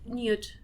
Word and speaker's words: Knute: is eliana Casas and I'm here today with Newt yeah correct it's Knut Knut yes Kent